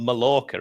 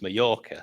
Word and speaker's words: Mallorca: You're right, but the amount of people that will call him Sellers, if you know it's double L in Spanish, how it's pronounced, like it's not Mallorca, is it? It's Mallorca. So you know the place.